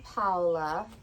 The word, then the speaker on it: Paula: So, I'm Paula. That's how you pronounce my real name. It's Italian.